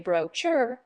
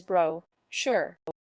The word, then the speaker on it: brochure: be careful with pronunciation some people mistakenly say brocher but the correct pronunciation is brochure second remember that brochure is accountable noun this